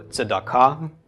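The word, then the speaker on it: צדקה: a of the komets, and the hey at the end is silent. So tzedakah. Tzedakah is how this would be pronounced.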